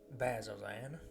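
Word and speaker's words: Bazzoxan: Bazazan, it looks funny, but it's how it's said.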